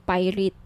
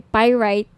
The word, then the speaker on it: pyrite: now if gusto niyo ng bracelet ito yung pirate pyrite Sorry pyrite iyung iba pronunciation pirate pyrite Okay 1,980 each may may